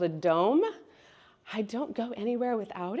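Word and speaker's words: Dohm: And so I've popped up here this little machine called a Dome. I don't go anywhere without it. It is an amazing machine. It's spelled D-O-H-M.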